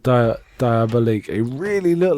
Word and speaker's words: Diabolik: As I say, Danger Diabolique, and it's spelled Diabolik.